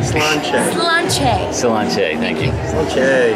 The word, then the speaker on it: Sláinte: No, not cilantro. It's not cilantro. Sláinte.